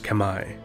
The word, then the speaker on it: Khmer: which is now modern-day Cambodia the Kemmer correctly pronounced Khmer or Khmer or Kemmer in English are in ancient people whose culture